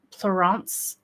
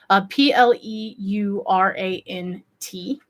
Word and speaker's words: pleurant: And they're also called, I'm going to butcher this because it's French, but pleurant, I believe it's called. It's spelled Pleurant.